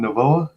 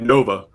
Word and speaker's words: Novoa: all right then so did you pronounce your name Novoa yeah Novo you got it right all right trust me I got my whole life people mispronouncing it because they say like Nova and I'm like a